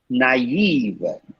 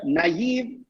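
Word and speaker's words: naïve: can see that right there are two dots above the eye who can say the right way wow that's beautiful what did i say yesterday beautiful the last person said so sweet naive that's okay uh have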